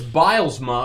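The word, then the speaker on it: Bylsma: It's Bilesma, of course. Dan Bilesma. That's how you say it.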